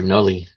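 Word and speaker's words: nálí: It's maternal, so it'll be our nully. That's how you say it.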